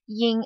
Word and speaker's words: yin: final is ying ying it's kind of like the in in scene and when it's not proceded by any consonant it's pronounced as ying and spelled as y